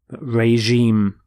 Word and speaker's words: regime: is Rex which here is changed to reg regime notice the pronunciation of the G is the sound regime